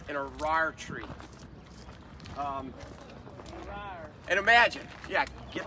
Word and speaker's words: Arar: This is called an Arar tree.